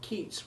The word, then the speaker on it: Keats: But please don't ask me why Yeats rhymes with greats while Keats rhymes with eats, because I haven't the faintest idea.